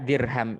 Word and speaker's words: dirham: Hak dirham itu haknya pendek. Jadi kita tidak usah membacanya dengan panjang.